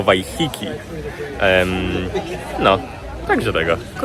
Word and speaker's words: Waiheke: najświeższa informacja jest taka, że chyba źle wymawiamy nazwę tej miejscowości. Więc je nie miejscowości, tylko wyspy. Więc jeżeli wy wiedzieliście jak się tę wyspę wymawia, to wybaczcie, że przez pierwsze kilka minut tego odcinka słyszeliście ją źle wymawianą. Podobno nie wheeke, tylko w Hiki.